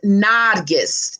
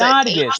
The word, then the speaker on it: Nargis: It's pronounced Nargis. It's Nargis.